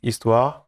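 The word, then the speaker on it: Histoire: of Eastward so yeah you pronounce it Eastward it's a French word for story We quite like French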